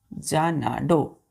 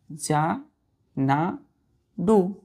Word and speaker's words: Xanadu: First word है बच्चों हम लोगों का जानाडो। जानाडो, जानाडू। क्या पढ़ते हैं बच्चों उसको? जानाडू। XANADU, जानाडू, जानाडू। एक्स ए को हम पढ़ते हैं जा, NA ना, DU डू, जानाडू।